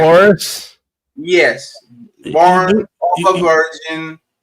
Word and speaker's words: Horus: Christ born of a I don't I can't pronounce the ages Horus Egypt like Horus yes born of a virgin, birthed announced by